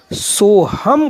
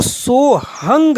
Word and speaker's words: सोहम: अगर जो एक ही श्वास मानते हैं वो इसका उच्चारण सोहम करेंगे। अन्य संत जो प्राचीन परंपरावादी हैं वो इसको सोहंग कहेंगे। उनका मानना है कि अभी